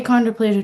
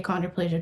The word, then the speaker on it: achondroplasia: So, I have a controplasia dwarfism. It's spelled A C H O N D R O P L A S I A.